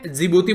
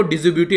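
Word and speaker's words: Djibouti: नई दिल्ली साइलेंट है जिबूती बोलते हैं इसको ड्यूटी नहीं बोलते हैं मैं भी पहले इसको ड्यूटी बोला करता था तो यह चीजें हैं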